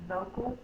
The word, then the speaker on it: vocal: The sounds like the U, but it's spelled with an A because vo, that is an open syllable, and that is the stressed syllable, or the one with the most force. Vocal. And this is the unstressed syllable, so it can say the sound, and it's represented in this word with the A.